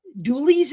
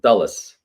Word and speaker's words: Dulles: Um, so the uh, Doulies Expo Center, is that how you say it? Dulles.